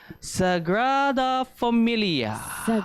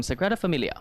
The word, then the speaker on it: Sagrada Família: that I was thinking more San Francisco similar pronunciation we're gonna do this together okay guys so it is called the let's to Sagrada família rather familiar okay one more time Sagrada família I read of a Mumia you meats it's